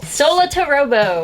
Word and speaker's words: Solatorobo: - Okay, you have to help me pronounce this 'cause I so-- - Solatorobo.